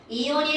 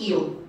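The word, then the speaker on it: ion: 자, 그렇다면 이온이 도대체 뭐니? 이온이라고 하는 걸 볼까요? 자, 여러분, 이온은 영어일 것 같아? 한글일 것 같아? 한글. 아, 영어요. 영어. 영어입니다. 영어인데요. I-O-N 이거예요. 사실 진짜 발음은 아이언입니다.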